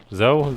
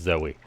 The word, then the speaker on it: Zoe: with the wrong one I guess it's pronounced Zoe thinking about it real hard I don't know why my why my brain defaults to zo anyway we have got